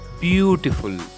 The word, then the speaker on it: beautiful: Yes, stress will be on first syllable beautiful.